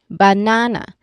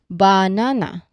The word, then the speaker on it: banana: Banana. So we stress on the middle part. We do not say um when we stress the first part we do not say banana.